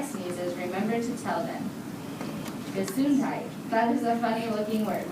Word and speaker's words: Gesundheit: Gesundheit. That is a funny-looking word, which is pronounced Gesundheit.